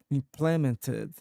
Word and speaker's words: implement: can get impre implemented implemented. No way. implementing. Implementing implement. Can you pronounce as well this word? Of course, the word is pronounced as implement with the emphasis on the first syllable.